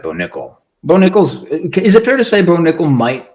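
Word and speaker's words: Nickal: uh Beau Nichols and Val Woodburn not Beau Nichols nickel nickels yeah but Nate does it purposely he'll he'll mispronounce the name so it gives you an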